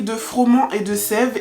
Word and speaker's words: Froment et de Sève: boulangerie froman de sève je juste vérifier que je prononce bien le nom donc c'est la boulangerie de froman et de sève et en fait cette